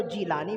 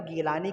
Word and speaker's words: جیلانی: کیلانی، کوئی کہتا جیلانی۔ تو یہ تلفظ، یہ زبانوں کے اختلاف سے تلفظ کا اختلاف ہو جاتا ہے۔ تو ایسے ہی ہے، عربی میں اگر پڑھیں گے تو جیلانی پڑھیں گے، اردو اور فارسی میں اگر کہیں تو گیلانی کہہ لیجئے یا کیلانی بھی آپ